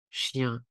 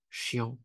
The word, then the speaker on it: chien: bizarre ça s'écrit "EN" mais en réalité ça se prononce plus comme le son précédent, tu le sais déjà : "chien" ne se prononce pas "chiant" Ces combinaisons de lettres